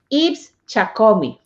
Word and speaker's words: Yves Tchakomi: gonna end same wrong ibs chakumi this is good this is good this is a good pronunciation of my name okay so thank you